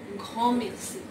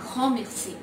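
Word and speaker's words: grand merci: আ thousand time, আ ঘমেক্সি। আমরা এখানে ডি দেখতে পাচ্ছি কিন্তু বেশিরভাগ ক্ষেত্রে ফ্রেঞ্চ উচ্চারণগুলো লাস্টের অ্যালফাবেটগুলো সাইলেন্ট থাকে, এক্ষেত্রে আমরা ডি উচ্চারণ করব না, আ ঘমেক্সি, আ ঘমেক্সি, যেহেতু আর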